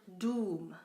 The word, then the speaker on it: dům: The letter D, as in the Czech word dům, which means house, or like the word dog in English, dům, dog, D.